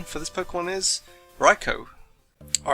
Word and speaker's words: Raichu: raicho well you've heard it here the correct pronunciation for this Pokemon is raicho all right so I haven't been doing very